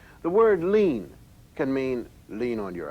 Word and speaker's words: lien: but so is this it's pronounced lean the same as lean on your elbow but its meaning is